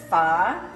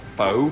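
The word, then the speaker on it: phở: might think it's pronounced foe it's pho this is a live recording we are live there's real stuff going on like dogs it's called it's pronounced far like far far away okay very good um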